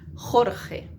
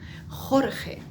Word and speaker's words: Jorge: Jorge. Uf, tanta J. Jorge.